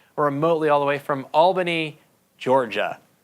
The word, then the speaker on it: Albany: I'm told the proper way of pronouncing, if you're from Albany, is Albany, not Albany.